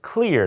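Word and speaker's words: Xlear: that I recommend is called clear it's spelled XLE R it's a nasal spray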